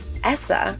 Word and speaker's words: ESSA: would be applying for essa rhyming with vanessa is the law that